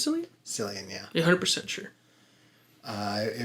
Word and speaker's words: Cillian: he's like you don't know silly and murphy killian cillian killian killian murphy i like that that's pretty dope yeah i don't know how to pronounce it you sure it's silly cillian yeah 100 sure uh it would be silly